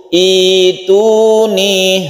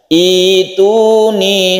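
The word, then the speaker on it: ائتوني: Kalau kita memulainya dari sini, maka membacanya itu ituni, hamzahnya berubah menjadi ya sukun, berubah menjadi mat i-nya ini, ya. Ituni, sekali lagi kita membacanya ituni.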